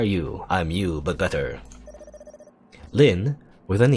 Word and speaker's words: Lynne: She's called Lynne, the same way. Or, I don't know, I assume this E is silent.